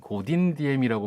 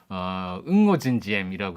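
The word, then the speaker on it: Ngô Đình Diệm: 아마 기억나실지 모르겠는데 옛날에 한국에서는 고딘디엠이라고 불렀던 그 유명했던 독재자죠. 남베트남의 응오진지엠이라고 하면 게 그쪽 발음에 더 가까운가 본데 이 사람이 10년간 독재를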